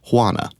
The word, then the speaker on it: Juana: of Spanish word, it's Juana. Hua sound. Yeah, it's a hua sound. It's almost like an H sound.